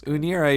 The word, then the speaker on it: Unira: Then Unira, is that how you pronounce this? Unira, yeah.